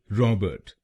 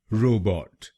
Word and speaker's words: robot: कुछ लोग भारत में इस शब्द को गलत प्रोनाउंस करते हैं, जैसे रॉबर्ट या रोबो। आइए सीखते हैं इसकी सही प्रोनाउंसिएशन। इसकी सही प्रोनाउंसिएशन है रोबोट। रोबोट। इस शब्द में दो शब्दांश हैं।